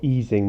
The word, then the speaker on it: Ising: from an Anon model called the ising model or easing model if you want to pronounce it correctly there are other Anon